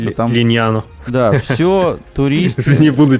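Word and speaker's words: Lignano: Да, Бибиона, там, Пинеда, вот эти все, там, Лигнано, вот эта вот вся тема, короче, я имею в виду, там... Линьяно.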